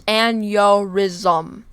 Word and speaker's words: aneurysm: brain aneurysm brain aneurysm this is how you pronounce aneurysm hey Riz let's go aneurysm that's how you say so brain aneurysm also